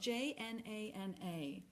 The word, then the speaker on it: jnana: It's spelled Jnana.